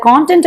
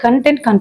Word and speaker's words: content: இதை கான்டென்ட் அப்படின்னும் நம்ம ப்ரொனவுன்ஸ் பண்ணலாம், கண்டென்ட் அப்படின்னும் ப்ரொனவுன்ஸ் பண்ணலாம்.